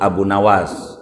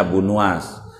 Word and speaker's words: Abu Nuwas: Nih orang kita sebut Abu Nawas, yang benarnya bacanya Abu Nuwas.